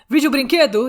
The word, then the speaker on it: Vídeo Brinquedo: we're dealing with today vijobrinkedu that's the correct way to pronounce it is a brazilian animated